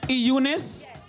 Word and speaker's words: Eunice: Eunice. I thought the E was silent. Oh, Eunice.